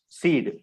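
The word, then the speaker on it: cede: e d e yes the word is pronounced as seed c-e-d-e okay that not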